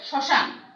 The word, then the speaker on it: শ্মশান: অনুরূপভাবে শ্মশান, অনুরূপভাবে মটা উচ্চারণ হচ্ছে না, এই জন্য সেই শব্দটির উচ্চারণ সানুনাসিক হচ্ছে।